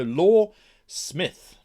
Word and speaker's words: Loresmyth: law and myth into a powerful compound so law Smith I suppose yes that's how we would pronounce it we create quality and fun role-playing